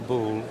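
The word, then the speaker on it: Boulle: l l e all right after Andre charl bull who was a designer and Furniture maker working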